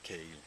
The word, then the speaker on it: kale: Comment vous prononcez cale ou caille? Ben moi, on peut le dire on peut dire chou frisé aussi. Mm-hmm. On dit souvent kale. Kale. Parce que c'est pas vraiment la façon anglaise de le dire.